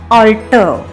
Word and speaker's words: alter: The other word alter is used as a verb, and that is pronounced alter.